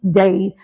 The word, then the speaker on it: Dade: Dade, like Dade County, Florida, Miami-Dade. People remember that, Miami. But I tell people it's like a tree planted by the rivers of water. So Dade.